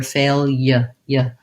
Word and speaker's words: failure: And then another issue with this word is that the letter U actually has a y sound like the word you. So I don't want to go right from my L into the oo sound, rather failure.